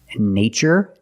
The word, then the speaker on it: nature: CH these two words nature and natural we see the spelling pattern t r e in this spelling pattern T is pronounced with the CH sound like chicken so we see the